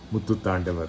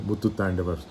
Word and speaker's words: muttutāNDavar: I love it because it rhymes with Sri Muthuswami Dikshitar, my favorite composer, who was a couple of 100 years after, maybe even more, after muttutāNDavar.